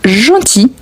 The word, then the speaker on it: gentil: Donc voici un gentil chat. Le L ici, on ne prononce pas, ok?